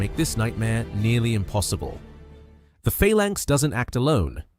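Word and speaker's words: Phalanx: First, failank is pronounced failank and it's named after an ancient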